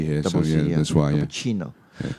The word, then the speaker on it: cappuccino: Cappuccino. Yeah. So if you see an Italian word with C, usually it will pronounce it as ch.